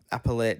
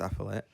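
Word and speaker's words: appellate: A newly released foyer uh appalate decision. I assume that means appallet. Sorry, that's pronounced appallet.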